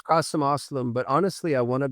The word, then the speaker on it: Aslam: It's Kasim Aslam.